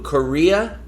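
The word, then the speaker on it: Correa: he's a commie Lou Korea I think is how you pronounce it uh rhymes with diarrhea Korea Lou c-o-r-r-e-a his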